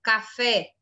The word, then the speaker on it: café: Se fosse a última sílaba mais forte, no exemplo, café, ela seria oxítono.